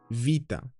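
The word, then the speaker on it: βήτα: Then we have what is commonly known as beta, but it's not a B actually, it's more like a softer B, a V, vita, as in the word katevo, katevo.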